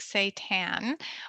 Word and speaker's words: seitan: you can get creative and try something like seitan which is a wheat based uh plant protein um so it's spelled s-e-i-t-a-n um and you can do all